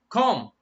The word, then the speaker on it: comb: come remember this word this word B is silent comb comb my hair the process of doing your hair like this brushing it the process coming of course mr.